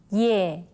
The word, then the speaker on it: 예: Okay, now it's a combination of the vowel sound yo and the sound e, right? Please take a look at how 선생님 pronounces the sound. 예, 예, 예. Now, this letter is read as yeah, right?